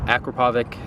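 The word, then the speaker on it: Akrapovič: good on that physio 9 I've heard that Akrapovic that's how you say it and m4 and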